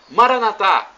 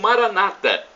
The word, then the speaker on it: Maranatha: o dialeto de Jesus eu clamo Maranatha como dizemos nós católicos ou Maranata como dizem nossos irmãos separados os evangélicos ou protestantes não importa a pronúncia o significado é o